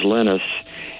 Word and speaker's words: Linus: Do you think that Linus Torvalds took the Finnish pronunciation of his name, which is Linus, and added the X?